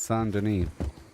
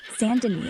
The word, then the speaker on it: Saint Denis: Head to the nearest post office, like the one in St. Denis. Open daytime, or Lagras if it's Remember, closer. Pronounced Saint Denis. Yo, Goob, my bad. San Denis it is, Flim.